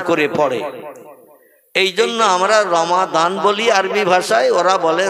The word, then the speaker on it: রমজান: মতা অবলম্বী বা অন্য মতাদর্শের মানুষ ওরা দোয়াদ উচ্চারণটা ঠিকমত করে না ওরা দোয়াকে যেমন রমজান আরবি ভাষায় লেখা ওরা বলে রমজান বলে না আমরাও শুনে শুনে মুখস্ত করেছি আমরা